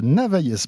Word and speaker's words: Navailles: On en parle avec notre invité Alexandre de Navaillès. Bonjour. Je ne sais pas si on prononce le S ou pas. On ne le prononce pas. Bonjour François. Alexandre de Navaille, donc vous êtes le président d'Hertz France.